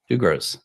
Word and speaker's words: Dugroz: I think I think he pronounced it. Dugos reports. Doug Gross.